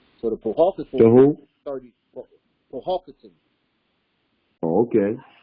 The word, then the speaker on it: Powhatan: Powhatan. Oh, okay. Or Powhatan, some people pronounce it.